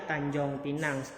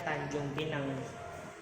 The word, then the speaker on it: Tanjung Pinang: 1830 nihnya seperti ini dulu bacanya Tanjong Pinang dan sekarang baca sekarang itu bacanya Tanjung Pinang oke Ada pulau manilai